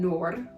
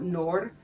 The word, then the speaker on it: Noor: We are following Sal and Noor, and I'm saying it like that because I believe that is the correct pronunciation. She complains in the book that people call her Noor, so I'm trying not